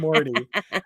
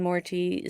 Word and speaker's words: Morty: even like rick and morty so and i i like to say morty morty i like to pronounce the t more tea more tea there's a t it's not a d but that's just how